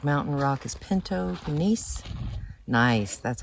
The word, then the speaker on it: gneiss: Nice, that's how you pronounce it.